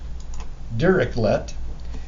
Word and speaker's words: Dirichlet: go to Google and we ask Google to pronounce it direct dirichlet and this is der like Derr Derr eclipse